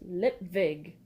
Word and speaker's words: Lipwig: "It's pronounced Lipwig, you moron," he moaned. "A V, not a W."